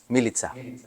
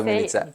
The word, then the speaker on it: Milica: Milica. Hello, Peter. First, I have to say, Milica. Good job with pronouncing my name.